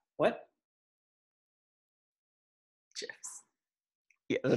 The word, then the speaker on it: GIF: Like it was gifts or gifts? Gifts. I was just clarifying that it was a hard G, not a soft J. Soft G. What? GIFs.